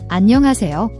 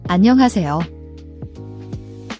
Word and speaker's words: 안녕하세요: The H in is often very soft, almost silent in rapid speech, but when spoken clearly, it's an aspirated H sound. Breathe out like fogging a mirror.